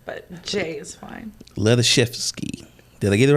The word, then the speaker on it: Hladyshewsky: so with that miss j um please pronounce your last name for me no worries lotazewski is the last name but jay is fine leather chef's ski did i get it right yes he did